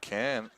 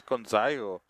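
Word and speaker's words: Gonzalo: Oh, it's not Ken. It's Gonzayo. Peter Gonzayo. In what world does that look like a C? In every world, right? His name is spelled with a G.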